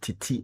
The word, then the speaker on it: Tete: It says that it's pronounced Titi Ansah.